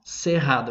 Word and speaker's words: Cerrado: savannah of all the sejado yes it's pronounced sejado even with both ours well uh you can